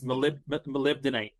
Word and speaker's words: molybdenite: How do you pronounce that? Molybdenite? You nailed it. No, it's molybdenite.